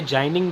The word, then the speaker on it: ginning: इस प्रोसेस को हम लोग गिनिंग भी कहते हैं। गिनिंग बोल लीजिए, जाइनिंग बोल लीजिए, स्पेलिंग सही होनी चाहिए।